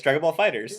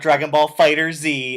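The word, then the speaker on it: Dragon Ball FighterZ: You're pronouncing it wrong. No, it's Dragon Ball Fighters.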